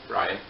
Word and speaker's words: Rian: say it last name his first name is Rin so Ryan and he said specifically